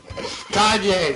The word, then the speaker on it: Kanye: Millions of Americans struggle with Kane West every day. Kane West. Kanye, sorry. He said Kane West. The Y is silent.